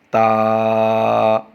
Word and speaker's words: تا: ساتھ نہیں پڑھیں گے، تے نہیں بلکہ تا، تا، تا۔ اگلا حرف ہے سا،